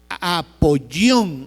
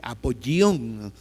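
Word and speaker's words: Apollyon: Se escribe con doble l y con y como quien dice apoyón. Así, apoyón, pero es doble l y una y.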